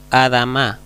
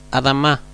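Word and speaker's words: אדמה: adama se dan cuenta yo no digo adama sino adama como podemos ver aquí debajo de la mem hay una una Cat la c nos dice que cuando hay dos la la segunda se asentó más fuerte pero aquí podemos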